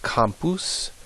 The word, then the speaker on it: campus: name claw Claudia uh this word down here is pronounced compus compus what word do we get in English from that obviously spelled the same way campus like a college campus compus in Latin means field and then uh another popular